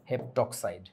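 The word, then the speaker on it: heptoxide: পেন্টক্সাইড আর এটা হচ্ছে হেপটাঅক্সাইড হেপটো বলে আর কি হেপটক্সাইড বানানটা এরকম ওকে ক্লোরিনের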